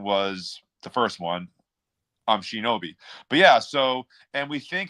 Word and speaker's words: Shinobi: we think that the proper the proper um pronunciation was the first one um Shinobi but yeah so and think effectively what they